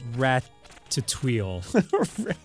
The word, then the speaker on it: Ratatouille: them i've seen ratatouille it's pronounced rat to tweel i'm just saying man